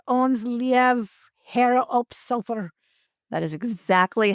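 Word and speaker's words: Ons' Lieve Heer op Solder: It's called Ons Lief Her op Sofer.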